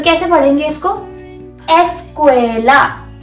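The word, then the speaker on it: escuela: एस्क्वला एस्क्वएला ए की साउंड आएगी।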